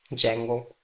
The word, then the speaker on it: Django: What is Django guys? Django starts from D not J. So Django remember Django starts from D not J and D is silent. So we read it Django.